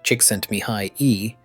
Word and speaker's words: Csikszentmihalyi: Flow, a term coined by psychologist Mihai Csikszentmihalyi, pronounced Csikszentmihalyi, is that optimal state of consciousness where we feel and perform our best.